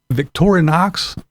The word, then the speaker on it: Victorinox: so these are the knives uh they're Victor Victorinox I believe they it's pronounced but yes I got those I have